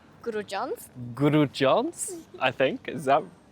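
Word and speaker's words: Grudziądz: Grudziadz, I think. Is that pronunciation right?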